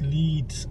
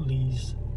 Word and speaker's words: Leeds: works going on mr can you pronounce it properly it's leads not lease i said leads leads